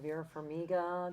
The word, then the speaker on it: Vera Farmiga: Vera Farmiga. Did I pronounce that right?